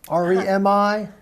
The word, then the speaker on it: REMI: And then you've got something called a REMI report, R-E-M-I. Yes. What's that about? So it's pronounced REMI.